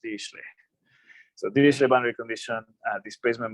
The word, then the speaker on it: Dirichlet: I don't even know how to spell it, but I know it's pronounced Dirichlet.